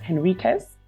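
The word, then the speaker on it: Henriques: Jamaica another fun fact in Jamaica because we don't speak Portuguese um we pronounce it as Enriquez um but in Portugal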